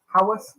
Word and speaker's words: Haworth: Is that Hayworth or Haworth? How do you pronounce that? Haworth.